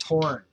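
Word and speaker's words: Thorn: of my grandson Jarl Torn, because this TH in Scandinavian would be pronounced ta, hard ta. torn.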